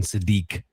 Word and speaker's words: Sadiq: It is it is pronounced Kenyon Sadi, not Satic.